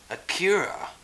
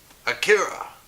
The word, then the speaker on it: Akira: looks this awesome yeah a cure I believe that's how you say it Akira so and just so